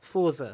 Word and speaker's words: Forza: Forza. Forza. Forza. That's it. It's you say Ford, but you stop short.